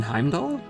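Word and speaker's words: Heimdallr: just heard with rufus i learned that i do not need to pronounce the r in heimdall in heimdall will you be going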